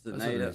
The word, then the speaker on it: Zeneda: Oh, Zeneda says, "We got it right." Nice. So, that is how you pronounce her name. Zeneda, I think, is is proper.